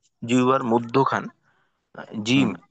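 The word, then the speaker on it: جيم: আচ্ছা মেহেদি ভাই, জি, জিমের উচ্চারণ জি না হয়, জি না, অর্থাৎ একেবারেই জিহ্বার আগায় চলে না আসে, একটু হ্যাঁ, পিছনে রেখে জি জিম।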